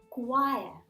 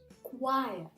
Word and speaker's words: choir: Choir. Choir.